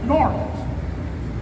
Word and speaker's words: New Orleans: that he was from New Orleans because people from New Orleans pronounce it norleans so I said circus